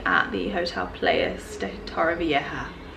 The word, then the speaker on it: Torrevieja: the Hotel Playas de Torrevieja. I learnt that from the taxi driver, that's how you pronounce it, because I was calling it Torrevieja.